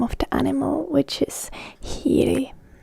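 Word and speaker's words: hiiri: This can be a bit tricky word for a lot of you, as there is the H that is always pronounced in Finnish. Hiri. And then there's the R, which is again hard R.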